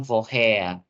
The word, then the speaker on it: woher: Ya, jadi seperti yang aku bilang tadi, huruf R kalau dalam bahasa Jerman tuh nggak terlalu yang kayak woher. Jadi bacanya woher. Jadi huruf R ini seakan-akan huruf A.